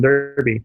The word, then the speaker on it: Derby: You did something with Tom at ChillCon Derby as well, right?